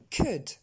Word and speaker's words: could: le O-U-L dans nos modos n'allait jamais se prononcer ould. Vous remarquerez que le L, on ne l'entend même pas. Je reprends. Should. Could.